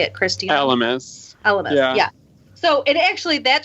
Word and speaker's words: Elemis: Elemis.